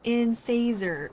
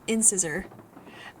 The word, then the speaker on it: incisor: for a good time just fyi it is pronounced in caesar not in scissor in caesar and caesar i mean i don't